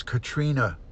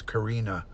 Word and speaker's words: Karina: the Legal Aid Society referred to her daughter as Katrina Mitrano and that's not her name it's Karina and they kept calling